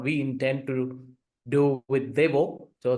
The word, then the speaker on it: Deo: intend to do with Deo so the actual pronunciation of the brand is deo it is inspired by ATI deoa so that is how Deo